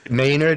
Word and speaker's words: Maynard: Maynard. Maynard is how we pronounce the last name.